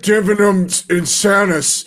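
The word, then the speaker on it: Illud Divinum Insanus: Divinum insanus.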